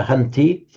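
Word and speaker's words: हन्ति: Not hanati, remember hanti.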